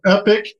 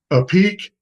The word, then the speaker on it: Epique: Is it So Epic, a peak, Epic Q? What's it the it is epic. It's a French spelling. I don't know why they created EPIQUE, but it is epic.